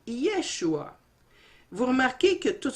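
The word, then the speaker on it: ישוע: Et si vous remarquez, vous avez le mot ou le nom Josué, qui se dit en hébreu Yehoshua, et on le met en parallèle avec le nom de Jésus, qui se dit Yeshua.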